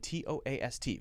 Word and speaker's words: toast: Which one is long? O. Toast. T-O-A-S-T. Often if we have two vowels side by side that are different, then we will use the long vowel sound of the first one, okay?